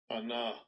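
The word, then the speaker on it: עָנָה: And now here's a pronunciation, by the way, too. Strong's H 6030. Anah. Anah. Anah. Ayin, nun, hey.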